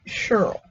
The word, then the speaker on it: Cheryl: that's my middle name I pronounce it a little bit different we call it Shirl I'm gone a Shirl but it spelled the same and I've always